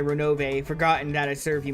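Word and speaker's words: Ronove: How do you pronounce that? Renove.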